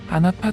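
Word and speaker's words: Anpu: 고대 이집트 에서 는 " 안푸 " 또는 " 인푸 " 로 발음 되었으며 , 보통 개 과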